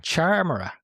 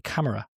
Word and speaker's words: Charmera: I think it's a charmera as opposed to a camera.